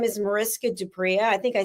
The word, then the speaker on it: du Preez: It's a French surname. So yes, and your pronunciation is correct. The Z at the end, even though it's spelt with a Z, it's not pronounced with a Z.